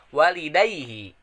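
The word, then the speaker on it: وَالِدَيْهِ: Yang ke-13 adalah walidaihi. Apa sih tajwidnya walidaihi? Yaitu madlen karena adanya fathah setelah iya. Walidaihi. Nah, madlen tersebut dibacanya sepanjang 2 harakat kayak gitu.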